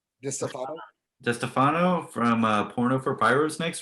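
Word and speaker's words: DiStefano: DeStefano? DeStefano. DeStefano from Porno for Pyros next week.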